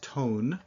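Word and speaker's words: thon: As a noun, it also means tone. Son, meaning his or her, or is a noun. As a noun, it means sound. Ton, spelled T-H-O-N, but pronounced exactly like T-O-N.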